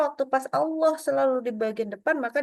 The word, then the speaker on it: Allah: ya Enggak boleh ya Jadi kita ada caranya membaca Allah itu dengan ditafhimkan atau ditebalkan naikkan pangkal lidah yang kedua kapan lagi